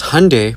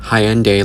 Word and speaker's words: Hyundai: Because Hyundai, pronounced like Sunday, not Hyende like you're saying, is a Korean company.